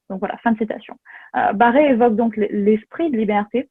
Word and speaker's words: Barré: Barry, qui est un député irlandais au nom francophone, puisque ça s'écrit donc avec un accent, Barré exactement, défend les colons face